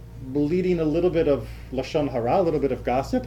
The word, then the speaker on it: lashon hara: Well, Lashon hara is sort of the Yiddish pronunciation.